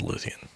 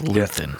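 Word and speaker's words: Luthen: Jyn and saw Nyx's Luthian. You think Luthian's going to die by Saw? Okay, first of all, it's Luan. Luth. Whatever.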